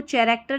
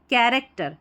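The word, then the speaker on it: character: इसको कैरेक्टर नहीं पढ़ना है। पढ़ेंगे कैरेक्टर।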